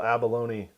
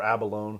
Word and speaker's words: abalone: a real pretty little Abalone yep or Abalone do you know if you pronounce the E on that word I put the on it man Abalone yeah it's probably because of balone yeah pepperoni pepperoni balone